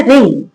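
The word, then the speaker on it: wring: रिंग। जब डब्ल्यू के बाद आर हो। डब्ल्यू लिखा है आर हो तो डब्ल्यू साइलेंट रहता है।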